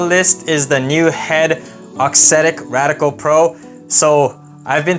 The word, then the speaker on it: Auxetic: up on the list is the new head oxetic radical Pro so I've been told by pretty much everyone that it's pronounced oxetic not oxidic so part of my pronunciation in the past